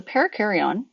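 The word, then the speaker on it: perikaryon: kar-wai oh and but it's pronounced like a pair of carry-on luggage it's not spelled like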